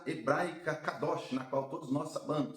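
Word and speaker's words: קדוש: A santidade ou a palavra santo vem da pronúncia hebraica cadoch, na qual todos nós sab sabemos, cadoos ou racid.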